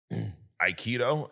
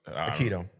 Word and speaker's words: aikido: Um, he also is a master of judo and iikido. I probably Aikido. Aikido.